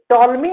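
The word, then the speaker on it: Ptolemy: यह model टॉलमी ने 140 ईस्वी में दिया था। तो अगर पूछे कि जियोसेंट्रिक मॉडल किसने दिया था तो आप कह देना टॉलमी। इसमें पी साइलेंट होता है।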